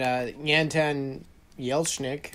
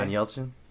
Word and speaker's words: Anton Yelchin: It's got Anton Yelchnik. I don't know how to say his name. That Anton guy. Anton Yelchin?